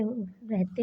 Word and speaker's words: ऋ: विशेष री इस ध्वनि का उच्चारण सामान्यतः रा प्लस ई री के रूप में व्यंजनवत ही होता है।